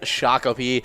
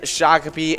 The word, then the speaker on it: Shakopee: name earlier in the broadcast because it is shakopee and if you didn't know we say shakopee